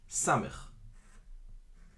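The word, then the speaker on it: ס: We've talked about this letter, samech. So they're pronounced the same, samech, and the shin with the dot on the left, s. Same pronunciation, different letters.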